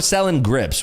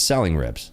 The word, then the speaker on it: Selling Rips: At Selling Rips or Selling Grips, whichever way you want to read it, but it's Selling Rips. That's the correct way to pronounce it.